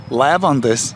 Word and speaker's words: leiwandes: Leiwandes - Correct?